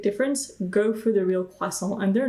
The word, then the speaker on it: croissant: to France and you want to have a quason do not pronounce the tea please it's p cha and quason you don't pronounce the te at the end if you